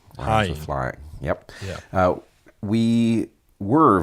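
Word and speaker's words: Heying: Heather and I should say her last name is pronounced Hying. Hying.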